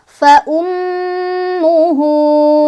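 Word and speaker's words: فأمه: Cara bacanya hak domirnya dibaca 2 ya, atau kalau misalkan di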